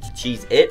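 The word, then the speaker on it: Cheez-It: way it's not why why everyone says cheese its with a z we've been saying it wrong for our entire lives am I even allowed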